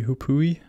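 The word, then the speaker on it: hoopoe: And the hupui, that's how you pronounce it, is usually in that area near the lookout.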